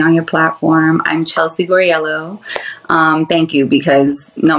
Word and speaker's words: Guarriello: name okay so let me make sure I pronounce it correctly gorello yeah beautiful gorell okay all right that's new